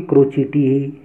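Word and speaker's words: crotchety: पहला वर्ड आता है क्रोचिटी। इसका शुद्ध उच्चारण भी क्रोचिटी ही है, मैं आपकी स्क्रीन पर, इस स्क्रीन पर आपको नज़र आ जाएगा क्रोचिटी।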